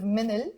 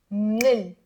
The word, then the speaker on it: من ال: pronounce it instead of minil, which is totally okay. We like to pronounce it as one word, one syllable. Say with me. Nil.